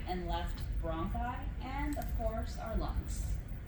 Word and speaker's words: bronchi: It's bronchi, not brunchy.